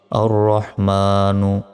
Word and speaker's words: الرحمن: রহ মিম খারা জবর মা নুন পেশ নু আর রহমানু থামলে উচ্চারণটা হবে আর রহমান আইন লাম জবর আল